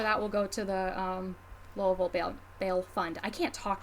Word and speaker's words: Louisville: charity Instagram live benefiting the Louisville, or I guess Louisville Band Fund, Bail Fund, if you're going to pronounce it correctly.